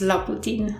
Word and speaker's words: Loputyn: is jessica chaffee and she is known as la putin online and yeah this is actually how you pronounce her her nickname in case you have